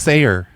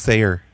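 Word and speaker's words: Saar: this subdivision what do you it's s-a-a-r it's pronounced sayer some people pronounce it sardrive but they're wrong it's pronounced sayer oh okay yeah that one anyway i was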